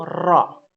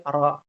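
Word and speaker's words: ر: Jadi dia satu barisan tuh, tingkatan pertama paling dalam la, tingkatan kedua na, dan yang paling ujung ro.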